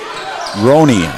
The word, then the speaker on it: Rooney: that one is Rooney Rooney excuse me it's a long o roone and that one's